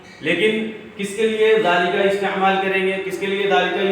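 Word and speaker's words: ذٰلِكَ: यहाँ पे लिखा है ज़ालिका, अरबी में लिखा हुआ है ये, सामने इसके प्रोनाउंस है, सामने इसका प्रोनाउंस इंग्लिश में लिखा हुआ है ज़ालिका, ज़ालिका।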